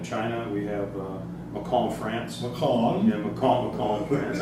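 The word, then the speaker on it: Mâcon: Macon in France. I just got to say it properly.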